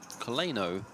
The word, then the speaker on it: Coleno: Coleno is actually pronounced like co le no. Coleno.